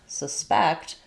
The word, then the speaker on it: suspect: So, as a reminder, for a hint, in this case, we're going to have second syllable stress for the verb. And then our next sentence, um, we're going to use it as a noun. So, the noun, first syllable stress.